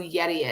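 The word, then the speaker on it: Gedi: Um mom wants to know who Yeti is. So, um, it's not it's G E D I. Yes. The G is pronounced as a Y.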